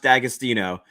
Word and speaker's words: D'Agostino: they sell in Ohio it's pronounced D'Agostino um but the apostrophe throws everybody off it's yeah casino is